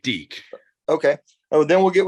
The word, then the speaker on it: Deke: with uh um D can I am I pronouncing your name right sir yeah that's correct Deke okay oh then we'll get with Deacon and